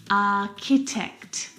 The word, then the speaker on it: architect: The CH sound in this word is a K sound, like in cat. Architecture. Architect.